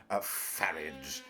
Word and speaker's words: Farage: I were him I I would say farage because I mean sounds more English and would conceal his uh Continental uh descendants probably yeah so pronounce him farage and that this would rhyme with garage and and and and